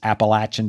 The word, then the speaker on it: Appalachian: And by the way, the correct pronunciation is Appalachian Trail.